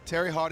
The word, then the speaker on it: Terre Haute: one Regional side how do you say that Terre Haute Indiana Terry hot Indiana there you go I thought you did